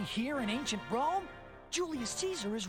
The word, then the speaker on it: Caesar: Caesar which I mean the game insists on mispronouncing his name so I mean yeah no actual Julius kaisar would was kind of a jerk was really good at killing people pretty much yeah I know uh like I said 25-year-old game aimed at children so you don't have proper Latin pronunciation here all right let's